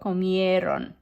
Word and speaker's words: comieron: And ellos, ellas, ustedes comieron. So watch your pronunciation on this one, right? Sometimes there's a tendency to punch the ron, but that's not where it should go. Comieron.